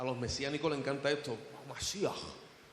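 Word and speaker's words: מָשִׁיחַ: Cuando las escrituras del Antiguo Testamento, en las originales, en los hebreos, tú leías el término Mashiach, porque es como se pronuncia. A los mesiánicos les encanta esto, Mashiach.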